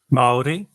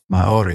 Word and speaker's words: Māori: Yaron, let me ask you, what's the correct pronunciation of is it Maori? Maori. Maori.